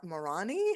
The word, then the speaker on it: Marani: we're gonna talk to John is it Mor morani have you pronounced correct okay yes great and Andrea G